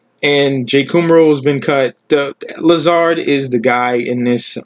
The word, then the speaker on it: Lazard: very very sneaky wide receiver to get allen laser um lazard as a if you want correct pronunciation this dude was coming on a little